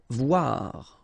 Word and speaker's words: voir: Voir, okay, same thing here, OI, OA, voir.